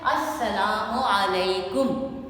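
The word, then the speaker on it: السلام عليكم: ये यहाँ पे लाम जो है ना ये साइलेंट है। जैसे इंग्लिश के कुछ लफ्ज़ होते हैं नॉलेज, नॉलेज में डी जो है वो साइलेंट है ना, इसी तरह से लाम यहाँ पे साइलेंट है। और यहाँ पे चूँकि तजदीद आ रही है तो हम अलिफ को सीन के साथ मिला के बोलते हैं अस्सलामो, मीम के ऊपर पेश आती है अस्सलामु अलैकुम, ठीक है, समझ आई।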